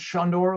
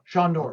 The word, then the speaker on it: Sandor: It's pronounced Shondor, like Sean Connery. Shondor.